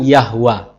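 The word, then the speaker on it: يهوه: dalam bahasa Arab diucapkan yahwa Kenapa karena dalam bahasa Arab tidak ditemukan vokal e sekarang kesaksian dari seorang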